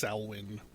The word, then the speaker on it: Samhain: salwyn you guys are probably know it better as samhain but i believe it's pronounced salwin that's what halloween three